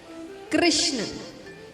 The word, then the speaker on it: कृष्ण: कृष्ण बोलते हैं तो जीभ घूमती है। बोलिए कृष्ण घूमि जी सही तरीके से आप ये नाम का उच्चारण करते हैं तो जीभ घूमती है यानी टेढ़ी होती है।